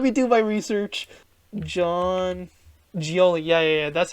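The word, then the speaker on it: Gioeli: let me let me do my research John gioli yeah yeah yeah that's how you pronounce it okay yeah this is John gioli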